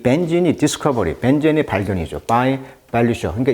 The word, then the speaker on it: Benzene: 여기 보시면 벤젠이라는 거, 벤진, 영어식 발음은 이제 벤진이라고 하는데, 벤젠. 플라스틱이라든지 어떤 세제, 화학제품 생산에 사용되는 가연성 액체입니다. 그래서 이 벤진이 디스커버리, 벤젠의 발견이죠.